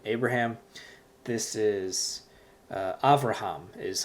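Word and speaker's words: אברהם: This is Avraham is how you pronounce it in Hebrew. But really with the accent, it's Avraham. The accent is on the last syllable, Avraham. So going back to the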